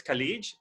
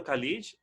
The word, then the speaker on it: college: v vote not both the other one is khalid someone went to college it should be college also extracurricular it should